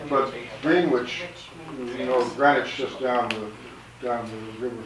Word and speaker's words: Greenwich: But Greenwich, Greenwich just down the river from London. As far as I know, the reason that they changed the pronunciation was that they had two German kings there, George I and his